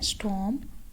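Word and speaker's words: storm: आर इसमें silent है। स्टॉर्म तूफान।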